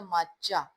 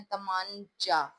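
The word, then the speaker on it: طمانچہ: इसमें नून जो है यह साइलेंट है। नून की आवाज जो है वो नहीं आएगी। अगर हम बोले तमामचा तो फिर यह लफज़ बनता है। लेकिन इसमें नून की आवाज साइलेंट है तो यह लफज़ बनता है तमाचा।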